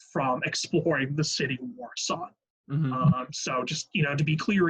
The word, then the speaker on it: Warsaw: Now, I just want to point out my pronunciation is correct on that. You guys know that sometimes I tend to mispronunciate things, but the spelling is the spelling of I believe, the Polish enunciation of the word.